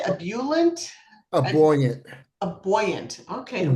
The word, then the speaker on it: ebullient: How do you say ebullient? Ab- Ebullient. Ebullient. Okay, Mhm. ebullient. Wow. Okay. It Yeah. has sound, maybe has a little French pronunciation to it.